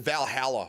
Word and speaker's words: Valhalla: Yeah, we pronounce it Valhalla up here. I don't know why. It's different. It's weird.